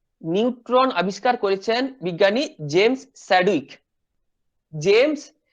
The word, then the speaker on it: Chadwick: তাহলে নিউট্রন আবিষ্কার করেছেন কে, নিউট্রন আবিষ্কার করেছেন বিজ্ঞানী জেমস স্যাডউইক। জেমস স্যাডউইক বা চ্যাডউইক, যে যেভাবে উচ্চারণ করে, স্পেলিংটা হচ্ছে CHADWICK, স্যাডউইক। ইনি কি করেছিলেন, যে 1920 সালে 1920-তে তিনি কি করেছিলেন, এই নিউট্রন পার্টিকেলটা ডিসকভার করেছিলেন।